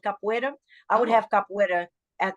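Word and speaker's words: capoeira: I've done this afro Brazilian martial art called Capa I would have Capa at The Retreat as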